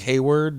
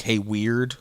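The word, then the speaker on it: Heyward: spell it out because it's HEYWEARD. Because like Hayward, you would think HEYWORD. Yeah. Or you would think Hey Weird, like everybody else says it. They're like Hey Weird.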